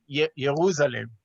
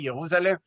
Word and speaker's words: Jerusalem: This is in his book called Jerusalem, or probably he pronounced it Jerusalem. In German, you don't pronounce the J, Jerusalem.